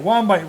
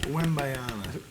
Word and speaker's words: Wembanyama: Wembanyama rolls off the tongue. Wembayana.